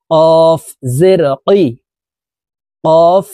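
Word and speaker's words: ق: কফের কফ হরফের উচ্চারণ জিহ্বার গোড়া তার বরাবর উপরের তালের সঙ্গে লাগাইয়া উচ্চারণ করে পড়তে হবে কফ জেরি কফ ইয়া জেরি কাফ জের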